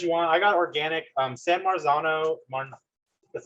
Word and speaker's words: San Marzano: San Marzano, that's how you say it, are pretty popular.